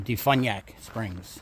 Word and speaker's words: DeFuniak Springs: I checked my Google Maps, and it's 8 miles now from here to Defuniak Springs. That's how you say it, or at least that's how Google said it.